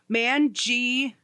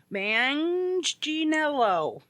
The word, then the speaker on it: Manganiello: But anyways, and to settle the debate, his name is Joe Manganiello. Manganiello. That's how the pronunciation works out. Okay. Manganiello. Yeah, so I think it's supposed to be like Manganiello, like G-Anello.